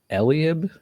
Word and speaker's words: Eliab: Him and Eliab, am I saying that right, or is that also very white?